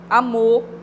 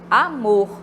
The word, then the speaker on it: amor: A gente ouve amor, né? Fica com acento fechado, né? Só que o correto é a gente falar amor, né?